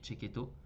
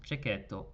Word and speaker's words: Cecchetto: Oui, Cecchetto. C'est comme ça qu'on prononce Cecchetto.